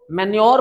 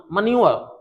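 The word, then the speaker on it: manure: ये ज्यादातर लोग मैन्योर पढ़ते हैं लेकिन इसका सही प्रोनाउंसिएशन मन्यूअर, मन्यूअर, लेकिन ये फिर हमारा मैच्योर।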